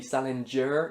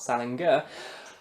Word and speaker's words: Salinger: Just before I round up the video, I've probably mispronounced Salinger a couple of times. I know it's supposed to be with a j sound and not a g sound. It's supposed to be Salinger, not Salinger.